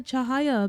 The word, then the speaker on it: Cahaya: Today, I'd like to start things off by talking about the Chahaya update. And yes, that is the correct pronunciation of this lovely city based on Indonesia.